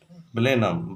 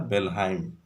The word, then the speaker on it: Blenheim: Blenheim is a name of Germanic village and its correct pronunciation is Blenheim, but some people pronounce it as a Belheim.